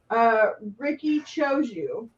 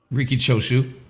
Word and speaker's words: Riki Choshu: Ricky Choju. Riki Choshu.